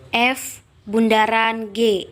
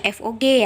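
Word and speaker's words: f∘g: F bundaran g, FOG ini bukan dibaca FOG ya, tapi kita bacanya F bundaran G atau F komposisi G.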